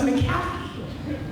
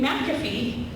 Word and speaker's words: McAfee: what is it what was it how to pronounce the company name people thought it was maffy and they knew the minute that they just did McAfee that those people were inside the fun because